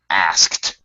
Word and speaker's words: asked: now technically correct all right asked would be pronounced like this asked you actually do two to um you pronounce